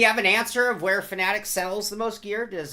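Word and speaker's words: Fanatec: It's pronounced fanatic. Not fanatic. There's Thomas. You know, actually, I don't care. Darren, you could call it fanitech.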